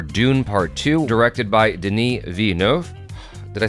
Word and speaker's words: Denis Villeneuve: non-spoiler discussion for Dune part two directed by Deni V did I say it wrong no you didn't